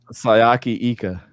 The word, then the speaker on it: Siaki Ika: Sayaki Ika.